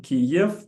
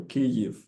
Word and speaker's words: Kyiv: I grew up in Eastern Ukraine, so sometimes it's a matter of pronunciation. Kiev or Kyiv. Kyiv.